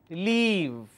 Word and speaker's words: leave: pronunciation la e ma leave if I mispronounced and make it short vowel sound instead of e I say e so I will end up pronouncing this as live instead of leave I will say live